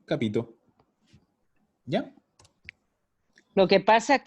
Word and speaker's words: capito: Entonces, capito. No hay doble, no hay nada. Lo digo así, capito.